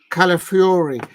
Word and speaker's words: Calafiori: Calafiori.